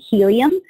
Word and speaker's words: Healium: can go to try helium common helium is spelled like healing H da Li um so try T ry h EA li um calm or you can